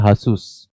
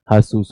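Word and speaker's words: Jesús: यहां पे ये जीसस नहीं कहते। इनका तो जे ही नहीं है। तो यहां पे क्या होता है? हासुस। स्पेनिश भाषा में जीसस के लिए क्या है? हासुस। वो जे बोलते ही नहीं है।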